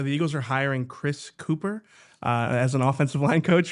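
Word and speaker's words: Kuper: I think it's pronounced Cooper, but the PEHR is pear. It's not per.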